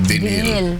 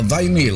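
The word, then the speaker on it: vinyl: Huwag mong ipo-pronounce na vinil dahil mali kaurado yun. Parang pinabili ka din. Oo. Vinyal.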